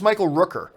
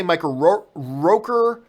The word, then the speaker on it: Michael Rooker: I believe it's Michael Rooker. I've heard people say Michael Roker. I've heard people say Michael Ricker, whatever. I've always said it Michael Rooker. So I could be wrong in my pronunciation of it, but hey, there you go.